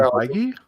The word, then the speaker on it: Feige: He has been doing the job since Kevin Feige?